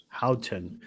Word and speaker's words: Howton: how do you say your last name Houghton Houghton and he's from Arizona he's a guide out